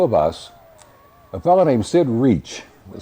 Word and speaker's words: Reich: the two of us, a fellow named Sid Reach, was spelled R E I C H. You think it'd be Reich, but he pronounced it reach.